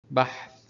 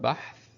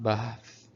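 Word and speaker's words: بحث: Bahth means research. So bahth, not bahth. It is bahth.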